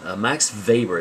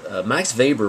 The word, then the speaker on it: Max Weber: to the third person max weber it's pronounced v even though it's spelled with a w max weber was kind of a